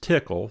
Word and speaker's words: TCL: or scripting common tasks tcl pronounced tickle stands for tool command language and it's the industry standard scripting language tickle supports control structures variables network socket access and apis by combining tickle commands and quartus prime